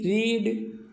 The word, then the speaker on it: read: READ रीड, READ रेड, और READ रेड। तो रीड रेड रेड तीनों की स्पेलिंग एक जैसी हो गई।